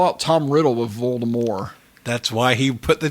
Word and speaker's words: Voldemort: the day that JK rling said the correct pronunciation Voldemort is Voldemort yeah mhm mind blown how do you make